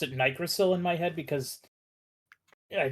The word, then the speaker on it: nicrosil: I pronounced it Nicrosil because it should technically be a short I sound based on what I know of phonetics and how to read words. I always pronounced it Nigrosil in my head because I just did.